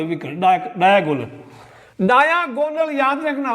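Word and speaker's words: diagonal: डायागोनल याद रखना उच्चारण, डायागोनल, डायागोनल, या अगर देशी भाषा में गोनल, डायागोनल मीन्स विकर्ण हो गया, विकर्ण की लंबाई।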